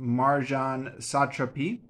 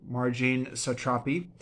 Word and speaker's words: Marjane Satrapi: of a return by I believe this is pronounced Marjan satrapi is uh a sequel to ppus one and